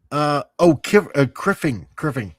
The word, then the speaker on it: Criffling: Criffling says, I used to be douchebag Kylo. Oh, yes. Criffing. Why am I pronouncing the L?